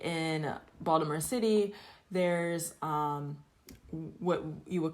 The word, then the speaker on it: Baltimore: So I do add the T in Baltimore, Hmm. but locals, yeah, locals would call it Balmer or Baltimore.